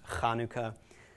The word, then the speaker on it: Hanukkah: words Konica also known as Chanukah it's actually pronounced Hanukkah or challah bread okay it's that sound Ruach